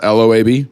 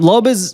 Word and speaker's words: Loab: okay how's it spelled l-o-ab l-o-ab yeah I've seen other people like pronounce it loab and I think that's wrong yeah that feels wrong yeah um it's Lope okay uh so Loeb